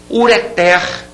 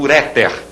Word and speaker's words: ureter: bem palavras oxítonas importantes ureter ureter essa tá aqui sublinhada você tá vendo é uma palavra oxítona não se diga portanto uréter ruim ruim a última